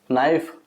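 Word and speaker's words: knife: silent रहेगा फिर देखो नाइफ नाइफ में के को नहीं बोला जाता है नाइफ यानी चाकू होता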